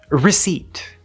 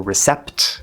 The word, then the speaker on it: receipt: The P is silent, okay? It's not receipt or recept or receipt or something like that. That's a common pronunciation mistake.